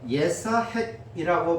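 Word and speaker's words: יִשְׂחָק: 그런데 오늘 본문에 우리말로는 이삭이라고 번역했지만 히브리어 원문의 철자는 보통 이삭의 철자와 약간 다른 것이 어 예사핵이라고 발음할 수 있는 철자로 되어 있다는 것입니다.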